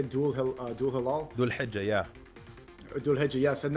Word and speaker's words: Dhul Hijjah: There were strikes at the pronunciation. How do you say Dhul Hilal? Dhul Hijjah, yeah.